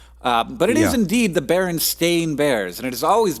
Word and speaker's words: Berenstain: well I always say Berenstein bears I don't know if that's correct I know that it's spelled with an A but I've always pronounced it with an e because that's the way